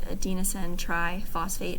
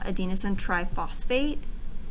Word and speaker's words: adenosine triphosphate: for adenosine triphosphate again the pronunciation is a little weird but adenosine triphosphate try being three okay in fact if